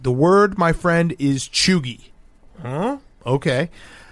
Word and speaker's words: cheugy: Chooi, pronounced cheoogy, can be used broadly to describe someone who is out of date or trying too hard.